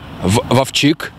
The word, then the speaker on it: Вовчик: Вовчик на и ударение.